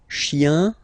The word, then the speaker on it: chien: Remember, chien, singular form, chien, same pronunciation, but you put this S, okay? Final S, not pronounced.